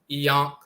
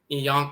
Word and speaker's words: Ankh: derived from Ankh, and the Ankh is pronounced Iyonk, Iyonk, like in the Coptic dialect. Instead of Ankh, it's Iyonk, Yonk.